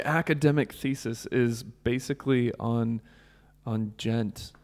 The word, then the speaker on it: djent: does it gent" and gent is spelled djent.